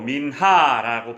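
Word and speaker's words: מנחה: 제물로 드리는 제사를 가리킵니다 소재는 히브리어로 민하라고 발음하는데 드려진 것 선물의 뜻을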